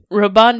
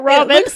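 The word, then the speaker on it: Robin de Logny: Celeste Elanor roban deong roban deong thank you thank you I was pronouncing it Robin that is the American way it's Robin what did you say it's roban oh wow I had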